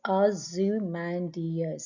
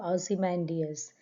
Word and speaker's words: Ozymandias: It's pronounced as Ozymandias. So Ozymandias.